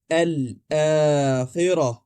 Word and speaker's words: الآخرة: تلفظ یاد رکھنا چاہیے۔ آپ سب سے پہلے لام کہیں گے، پھر حمزہ، اور آخر میں الف کو 2 حرکات کے مد طبیعی کے ساتھ ادا کریں گے، یعنی یہاں مد موجود ہے۔ تو ہم کہتے ہیں